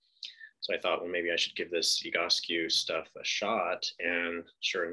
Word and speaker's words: Egoscue: So the Egoscue method, that's one of the first questions we usually get is how do you pronounce it? It's Egoscue.